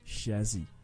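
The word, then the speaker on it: chassis: of the vehicle and don't be confused by the spelling when we say the word it's pronounced chazzy so some words that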